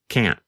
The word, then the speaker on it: can't: video of lesson 20 you can hear Pete first pronounce k with the letter T and then the next time you hear him pronounce it with the held T can't let's listen no I